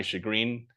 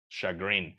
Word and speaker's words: chagrin: Much to my chagrin, I had to work on Saturday. Muy a mi pesar, okay? Chagrin. It's one of those words que la CH se pronuncia como machine, right? Machine, como machine learning.